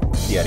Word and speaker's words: Fieri: Fieri, is how you say it.